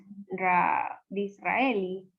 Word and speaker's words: Disraeli: ¿Saben cómo se pronuncia esa parte? Disraeli.